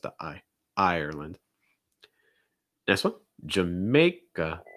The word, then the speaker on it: Jamaica: ireland next one jamaica jamae a sound again like and take over mouth wide raise the front of your tongue jammeh first syllable is reduced ja may and then you get another uh sound again jamaica jamaica jamaica